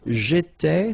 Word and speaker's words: étais: J'étais, so final S not pronounced.